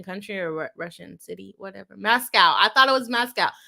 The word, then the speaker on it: Moscow: anyways it's called a Moscow it's called Moscow and the residents don't like when people get it wrong it looks like Moscow